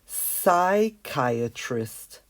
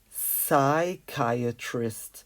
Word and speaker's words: psychiatrist: it in grey so let's cross this P out because we really don't pronounce it it's psychiatrist psychiatrist without the P so